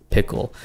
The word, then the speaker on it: Pkoll: Coming in at second place, I got the Quiet 2 from a little company called Pickle. That's spelled P-K-O-L-L.